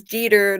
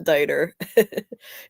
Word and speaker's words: Deer: your name wrong but it is deer not derer but messed